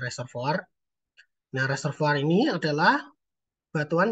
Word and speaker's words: reservoir: Yang pertama ini yang paling sering keluar ya, batuan yang kita sebut sebagai reservoir atau reservoir ya tulisannya ya, bacanya reservoir.